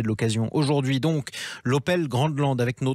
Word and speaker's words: Grandland: Grandland, il n'y a pas de D, c'est de l'allemand. Donc on dit Grandland.